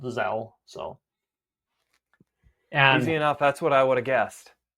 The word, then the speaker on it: Zelle: I looked it up, and it is just pronounced Zelle.